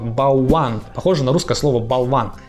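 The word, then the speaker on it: bałwan: Точнее, по-польски оно правильно произносится как «болван».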